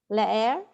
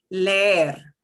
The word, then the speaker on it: leer: next to each other, I will drag it out. And that's the only difference. Leer. Instead of leer, it's leer. So I'm really pronouncing them both, but I'm just dragging that sound out.